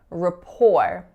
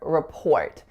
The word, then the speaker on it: rapport: a good relationship and instead of rapport I very often hear rapport or report but in this word the stress falls on the second syllable which isn't very common